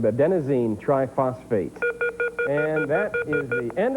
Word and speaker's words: adenosine triphosphate: ATP, adenotriphosphate. Three-letter abbreviation, but I want you to give me its full name, Conroe. You just left out one syllable there, Jacob, adenosine triphosphate.